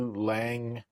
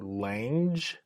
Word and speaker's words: Lange: And this is the pressure vessel explosion at the Loy Lange Box Company. I don't know if it's Loy Lange. It's Lange. I'm just going to say Lang. So if I'm mispronouncing that, sue me.